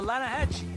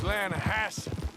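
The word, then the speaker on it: Lannahechee: The Lanahatchee. It runs right near here. Yeah, but it's pronounced Lanahassee. Why is everything in English said differently than it's written?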